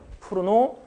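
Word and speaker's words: Cournot: 그래서 더 100년 전까지 올라가면은 쿠로노, 베르타 이분들은 이제 다 프랑스 사람들이죠. 그래서 발음을 제가 뒤에 자음을 안 해요. 쿠로노, 그다음에 베르트랑.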